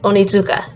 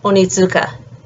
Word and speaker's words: Onitsuka: last name is uh contains a TSU which is a sound and it sounds a little bit like Zoo but it's slightly different um so again Miyabi onitsuka and then snowboard across